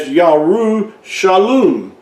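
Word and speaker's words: ירושלים: Another way to prove this is the city of Jerusalem, which in original, say, ancient Hebrew, it was pronounced as Yarushalum. Yarushalum, of course, you can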